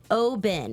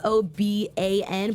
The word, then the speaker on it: Oban: It's spelled Oban, but it's pronounced Oben, and it shows you right there.